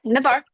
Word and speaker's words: Navarre: And I don't know how you pronounce. Is it Navarre? How do you say Navarre? Yep, Navarre, Florida.